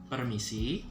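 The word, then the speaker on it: permisi: and then for that the way you pronounce it in bahasa is going to sound like this okay parameci fill the blank okay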